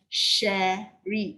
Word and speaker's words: Sherry: My name, pronounce it as Sherry, not Cherry.